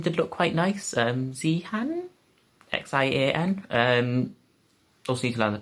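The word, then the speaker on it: Xi'an: one of them did look quite nice um zee han x-i-a-n um also you can pronounce things because before then because that's going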